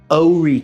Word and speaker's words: Horry: a southern drawl, and you have to say it like this: Horry County. It's O-R-E-E, Horry County, and you'll fit right in just good.